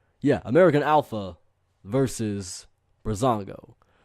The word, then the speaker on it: Breezango: Yeah, American Alpha versus Breezango.